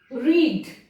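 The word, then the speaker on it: read: कैसे कर देते हैं, रीड वर्ड है, यदि इसमें से हम साइलेंट ए को हटा दें तो ये क्या हो जाएगा, रेड हो जाएगा। तो वही बात हुई, यदि साइलेंट है तो क्यों रखा गया, लेकिन यहां पर जब ये ए आया तो इसने क्या किया, इसके प्रोनाउंसिएशन को रीड कर दिया।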